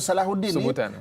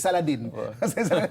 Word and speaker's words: Salahuddin: Sebenarnya perkataan Saladin bahasa Arab, dalam bahasa Arab cara pronunciation nama Salahuddin sebutan ha kan dalam. Jadi Salahuddin. Jadi orang Eropah Salahuddin jadi Saladin.